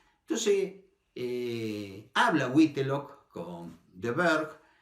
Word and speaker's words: Burke: Entonces, James Florence Burke, se pronuncia en inglés, por eso lo pronuncio así, Burke.